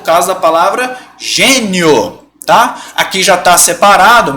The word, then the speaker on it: gênio: De novo, Guilherme, por que não é genio? Como é que você separa assim? Genio. Por quê? Porque senão a pronúncia vai ser genio. Tá bom? Beleza, gente? Então, ó, gênio. Não é genio.